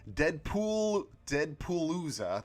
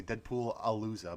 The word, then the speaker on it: Deadpoolooza: I can announce that Deadpoolooza, there we go. I was going to say Deadpool-alooza, but no, that would be an extra syllable.